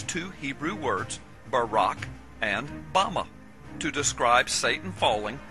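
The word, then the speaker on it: בָּמָה: in the Strong's Hebrew dictionary and it is pronounced Bama Bama is most commonly used to refer to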